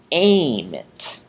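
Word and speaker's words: ēmit: We did the lengthened stem vowel, agit becomes agit, widit becomes weedit, facit becomes fakit, emit becomes aimit.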